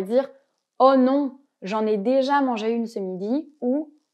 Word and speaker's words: déjà: on va ce soir déjà et dja ici on va supprimer le e quand on parle à l'oral on ne va pas le prononcer par exemple si je